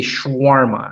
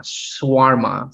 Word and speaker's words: shawarma: you pronounce this word some people say shawarma shwarma so what is how do you pronounce it i pronounce it shawarma but you know you can pronounce it any way you went any way you want just don't call me